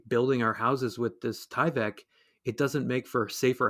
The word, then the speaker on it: Tyvek: embroidery out of tyvek is that how it's pronounced this industrial material tyvek tyvek yes tyvek sorry that's what you see on